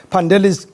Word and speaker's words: Pandelis: It's actually Pandeli. The S is silent, and you got the surname pretty close on, so it's pretty good.